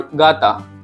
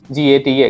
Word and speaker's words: gata: Okay, and J sounds like ga when we call gata, like cat, gata, G-A-T-A, gata.